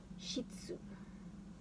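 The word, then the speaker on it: 膝関節: And this is pronounced as shitsu.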